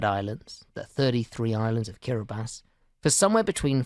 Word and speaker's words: Kiribati: Fanning Island and let's start with the name kirbas kabati or kirbas as the locals pronounce it is a Gilbert's language way of